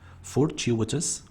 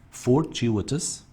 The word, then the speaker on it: fortuitous: thrive grow blue then fortuitous fortuitous remember the pronunciation fortuitous fortuitous adjective lucky incidental the last word frivolous frivolous